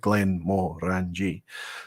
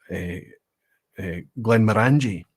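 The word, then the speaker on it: Glenmorangie: Glenn Moore ranji so a lot of people pronounce this uh Glenn miranger um obviously the Angie or the orangey part being the emphasis but it's the more it's the uh that's the Morris where you should emphasize it so it's called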